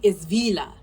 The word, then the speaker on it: Vila: It's Vila, not Fila.